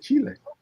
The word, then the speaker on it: Chile: he lived there only person I've ever heard pronounce Chile the correct way yeah Chile and now I know how to say it